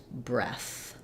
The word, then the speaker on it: breath: different vowel there but when I have breath at the end there's uh just uh just air no voice and breathe at the end my voice stays on and it's uh a different sound um okay so you